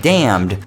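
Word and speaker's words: dammed: a quick spelling lesson there are two different words pronounced as damned one means condemned or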